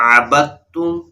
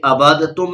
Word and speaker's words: عَبَدتُّمْ: یہ عبادتم نہیں پڑھنا بلکہ عبدتم پڑھنا ہے، با کو تا سے ملا دینا ہے. جب جوڑ کریں گے، ہجے کریں گے، اس وقت تو دال کا نام لیں گے، لیکن جب رواں پڑھیں گے جیسے یہاں ہم پڑھ رہے ہیں تو اس وقت پھر دال کی آواز نہیں آئے گی بلکہ تا کی آواز آئے گی.